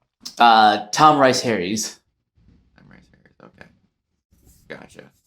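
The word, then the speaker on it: Rhys Harries: I want I want to make sure I'm pronouncing his last name correctly. Uh, Tom Rice Harry's.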